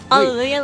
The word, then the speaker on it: Allelujah: last name um so my first name is Allelujah it's a very long name Allelujah like Hallelujah your first name in